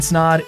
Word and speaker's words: Snaadt: guys my name is Ryan snod it rhymes with odd and welcome to the